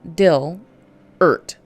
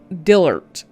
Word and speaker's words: Dillert: How do you pronounce that? D-I-L Dillert. Dillert.